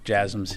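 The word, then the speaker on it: JASSM: been some reports about jams if I'm pronouncing that correctly the last question yes jasms yeah you're pronouncing it correctly um I I don't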